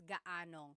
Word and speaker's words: gaanong: And then just a pronunciation tip, if you happen to see gaano ang something, it's usually put together and it's gaanong. So gaanong katangkad ang anak mo?